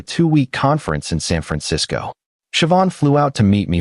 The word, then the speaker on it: Siobhan: Her name was Siobhan, pronounced Siobhan. She taught me after I butchered it three times.